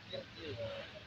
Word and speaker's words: Kirtya: Saya salah bacanya ya, Kirtia. Iya, Kirtia.